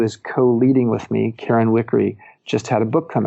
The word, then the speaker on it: Wickre: Her last name is spelled Wickre, Karen Wickery.